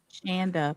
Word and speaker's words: Shanda: Heo, make sure Shondaanda rhymes with panda. She hates that. Shondaanda Panda. Shanda panda.